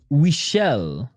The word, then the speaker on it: Weichel: It's pronounced Weichel. He's Daniel Weichel.